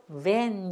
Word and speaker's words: van: 우리는 벤이라 그러죠. 벤. 야, 나 어저께 벤 뽑았는데 뭐 어쩌고 이렇게 해요. 벤이 아니고 van 이렇게 하셔야 돼.